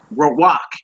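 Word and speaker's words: רוח: the brothers say uh they'll say uh Rak and not ruach still Spirit you know what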